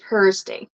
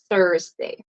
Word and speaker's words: Thursday: practice but it's not Thursday that's a t it's not Thursday it's not Thursday it's tongue between your teeth Thursday Thursday and you'll notice